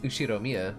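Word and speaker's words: Ushiromiya: is one of my cousins his name is pronounce ushiro Mia George he's five years older than me so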